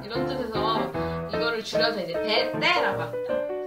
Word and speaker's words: bete: 완전 지루해, 완전 심심해 할 때 BETE라고 하는데요. 이제 인도네시아어에서는 알파벳 B를 메, T를 때라고 읽어요. 이게 어떤 단어의 줄임말이냐면 boring total, totally boring, 완전 지루하다 이런 뜻에서 이거를 줄여서 이제 BETE라고 합니다.